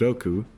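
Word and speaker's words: 六: the Japanese numbers 8, pronounced Tachi, and 6, pronounced Roku, making Haro, which sounds like Hal, the developer of this game.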